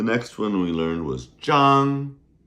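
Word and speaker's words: 张: The next one we learned was Jang. Jang. Z H A N G first tone and that was for flat things.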